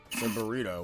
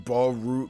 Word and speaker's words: Boruto: how did you say burrito why I'm sorry it's supposed to be boruto say Naruto that was boruto yeah it's boruto I'm sorry is it